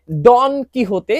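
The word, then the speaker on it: Don Quijote: সারভন্তেসকে আপনারা যারা চেনেন না সারভন্তেস হচ্ছেন এই বিশ্ব বিখ্যাত বইটির লেখক যেটির নাম হচ্ছে ডন কিহতে এটার উচ্চারণ এবং ডন কুইকসোট নামে এটার একটা অনুবাদ কিন্তু বাংলাদেশে একসময় পাওয়া যেত।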